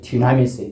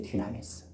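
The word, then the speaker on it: δύναμις: 다이너마이트의 그 헬라어예요. 다이너마이트 알아요? 불 붙여가지고 던지면 쾅 하는 이 폭탄의 원조적 발음이 디나미스예요. 디나미스.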